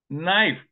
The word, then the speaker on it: knife: why Mamu thank you knife why there's K and the K is silent tsunami why there is